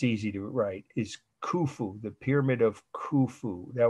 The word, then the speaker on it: Khufu: i'll spell it it's easy to write is khufu the pyramid of khufu that was the name of the pharaoh who had it built k h u f u kufu okay the pyramid of khufu is the great pyramid those two terms are